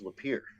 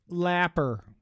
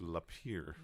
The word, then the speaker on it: Lapeer: your hometown what's your hometown my hometown is Lapeer Lapeer Michigan not lapper not lapper you can't be spelled that way but it's pronounced Lapeer yes so yeah there's a certain individual that's